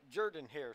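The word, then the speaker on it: Jordan-Hare: you kept seven at Jordan hair Stadium that's how it's pronounced it's not Jordan here guys it's Jordan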